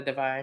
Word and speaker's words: Devine: So this week they did a cover that was said Black Famous, and on the cover was the Loretta Devine, because you got to say it like that.